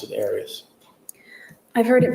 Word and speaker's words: Arias: you always pronounce it areas I've heard it pronounced about seven different ways I say Arius as does the rest of my family well let's your family